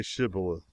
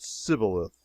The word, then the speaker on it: Shibboleth: let none pass who could not say Shibboleth. The Ephraimites, being of a different tribe, could not frame to pronounce the word right, but called it Sibboleth, which proved them enemies and cost them their lives.